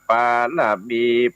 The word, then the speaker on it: ปารมี: บาท ไท ยอด มุนี อ่าน ว่า ปารมี ปัญญา ปารมี ประเสริฐ มี